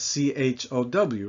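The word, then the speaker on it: tchao: In Italian, they spell it C-I-A-O, but it doesn't work in French phonetics. So if we say dog chow, that's C-H-O-W, right? Well, that fits into the English phonetic system. So to make it fit into the French phonetic system, we spell it T-S-C-H-O, A-U, chow.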